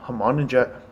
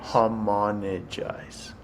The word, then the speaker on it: homogenize: Homogenized? Yes, how do you pronounce that? You want to try homogenize? Homologize. G before the N. Okay.